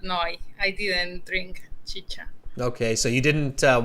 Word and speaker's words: chicha: with this okay so chi-cha not chica chicha all right uh so